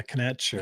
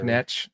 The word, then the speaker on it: Knecht: Yeah, Knecht. Knecht.